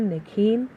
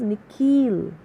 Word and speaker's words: Nikhil: The second part of it is longer, sounded like heel. So, how is the way that principal is pronouncing his name? It is Nikhil.